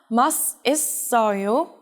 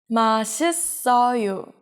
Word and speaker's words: 맛있어요: It's not 맛있어요, it's 맛있어요.